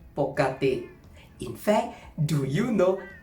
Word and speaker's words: ปกติ: meaning however it is more common to say poti in fact do you know that poti originates from the oldfashioned tie word for usually